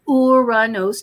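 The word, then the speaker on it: Uranus: loves to joke about that name but it's pronounced uranos named after the the Greek god of of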